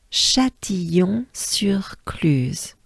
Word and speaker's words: Châtillon-sur-Cluse: So U is a very small opening of your mouth, and you drop your jaws down. So, I mean, dropping is down, but U, U, U, U, use, use, use, cluse, cluse, right? So it goes a bit like sur cluse, right? Sur cluse. Let's try it as a whole together, ensemble. Take a good breath.